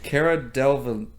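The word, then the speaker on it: Cara Delevingne: How do you pronounce that name? Cara Delvene.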